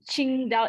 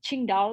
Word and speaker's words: Qingdao: five books published by i'm sorry about my pronunciation qingdao is it qingdao yeah you're so good thank you qingdao publishing